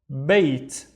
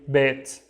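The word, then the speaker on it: بيت: We have bait. Bait. And bait means a house, right? However, in our daily life, we say bet.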